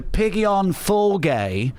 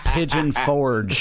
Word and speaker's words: Pigeon Forge: know the way to Piggy on Fulgay?" Pigeon Forge. So a British dude Piggy on Fulgay. pronouncing it like, what is that, French?